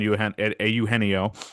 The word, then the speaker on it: Eugenio: I just think the more time that goes on, as we get into February here almost, the chance on Eugenio, as you pronounce it, as it's supposed to be pronounced, is better than it was a couple weeks ago, a couple months ago.